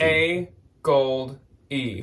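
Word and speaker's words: AGOLDE: think is the like technically correct name to pronounce it is a gold a gold e There's an actual spaces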